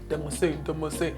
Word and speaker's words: DEMM: My community is called Dem. Demose. But it's spelled like DEMM.